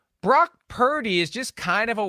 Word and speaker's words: Purdy: about how about per how about Purdy instead of rhymes with turdy I mean turdy how